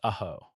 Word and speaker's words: Ajo: That's Ajo, pronounced Aho, Spanish for garlic, named for a wild plant the Tohono O'odham used.